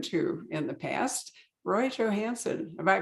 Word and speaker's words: Johansen: We get to talk to an author we have not spoken to in the past, Roy Johansen. Have I pronounced that properly?